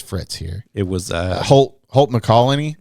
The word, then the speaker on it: McCallany: It was Holt McCallany. right. Yeah. Is that how you say his name? Close. McCallany. McCallany.